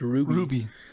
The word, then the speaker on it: RWBY: a show called rwby which is pronounced ruby yeah and he uh